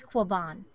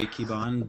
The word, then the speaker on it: Quiban: And Maria, would you actually help me pronounce your last name? Sure. It's Quiban. Quiban. Okay. Quiban. Yeah, that was pretty good. That was good. Thank you. I mean, being from Texas, I would naturally say Quiban, but, you know, I just wanted to make